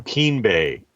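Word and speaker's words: Keem Bay: be continuing to to invest in that so Keen Bay am I pronouncing it right Keen Keen yep and so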